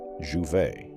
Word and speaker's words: Jouvet: In 1962 at the University of Lyon, a neurophysiologist named Michel Jouvet, pronounced Jouvet, was trying to answer a simple question.